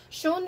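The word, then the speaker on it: schon: um yeah um sean shawn means like already um don't get this confused with shun with the umanate as i mentioned because shoon means beautiful or pretty so if you if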